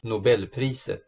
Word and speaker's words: Nobelpriset: A Nobel Prize was awarded for this discovery in 2011, and by the way, here's how they pronounce Nobel Prize in Swedish. Nobelpriset.